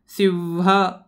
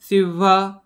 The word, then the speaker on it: सिंह: व सारखा उच्चार येतोय परत सिंह याचा पण उच्चार व सारखा यायला हवा सिंह सिंह आणि याचा हंस सिंह